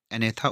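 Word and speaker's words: Agnatha: है एक है एथा यहां पे जो है जी साइलेंट रहता है एथा और दूसरा है नथो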